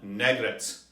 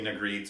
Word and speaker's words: Negrette: a lot of fun negret or maybe nagrit or negrit but negret is how i'm going to pronounce it this time around thank you for subscribing